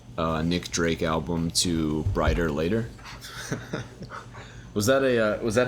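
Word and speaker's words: Bryter Layter: sooner the follow-up uh nick drake album to brighter later was that a was that how you pronounced that yeah b-r-y-t-e-r-l-a-y-t-e-r i thought it was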